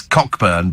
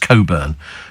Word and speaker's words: Cockburn: as an R uh we had a neighbor who was called Coburn but pronounced it as in the P well yes it's it's cockburn but it's pronounced Coburn exactly and uh lots